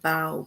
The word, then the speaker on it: bow: So here we have the word bow, B-O-W, bow. And if we look at that word, then bow rhymes with how.